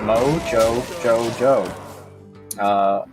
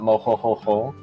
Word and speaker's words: MoJoJoJo: the way um the way he prefers it to be pronounced is moe joe joe joe it is not moho-ho-ho or mo yo-yo-yo but yeah thank you